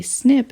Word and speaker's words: SNP: t a g and then there is a snip in the population at this position that i've